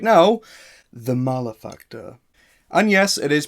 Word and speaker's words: Malefactor: that you can pick up right now the malafacter and yes it is pronounced malefactor not male factor malafacter means sinner and evil